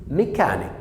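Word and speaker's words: mechanic: بص هنا بقى جايه صوتين اتنين، جايه السي اتش نطقت كي، وجايه السي في الاخر نطقت كي. بص ميكانيك ميكانيك ميكانيك ميكانيك، يبقى جايه نطقين اتنين، سي اتش نطقت كي عشان خاطر الكلمه دي كلمه خاصه بالميكانيكا، والسي جايه في الاخر خالص نطقت ايه؟ كي.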